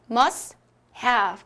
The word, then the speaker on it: must-have: T를 한번 빼줄게요. 생략을 해주고 탈락을 해줬습니다. 그러면 어떻게 소리 내죠? 그죠? must have. 그죠? must have. must have. 그죠? 여기 V 사운드 발음 주의해 주시고요.